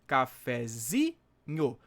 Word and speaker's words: cafezinho: Claro, a sílaba tônica de cafezinho tá no zi, mas a sílaba tônica da palavra, né, que deu origem aqui, né, a palavra cafezinho, seria essa aqui, né?